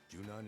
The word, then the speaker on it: Junon: Ah, so that is how they pronounce it. I've been pronouncing it right the entire time. I know some people call it Junion.